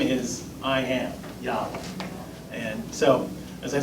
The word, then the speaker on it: Yahweh: His name is I am, Yahweh. And so, as I say, but Jehovah is actually not the right way to pronounce the word.